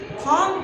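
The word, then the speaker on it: thumb: यहां पर देखिए टी एच यू टी एच यू एम बी थॉम पढ़ना चाहिए। लेकिन हम इसको थम पढ़ते हैं। क्यों पढ़ते हैं? साइलेंट है। अगला एग्जांपल देखिए।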